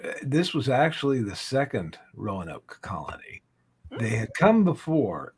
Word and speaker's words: Roanoke: Lost Colony of um my Canadian brain wants to pronounce it Ron okay Johnny had to correct me on that a couple weeks ago uh but yeah so the Lost Colony of Rowan Oak um who wants to